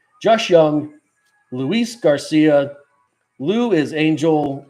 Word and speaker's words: Jung: Jake Berger Max the million myy Josh J young I'm just joing it's young um I bought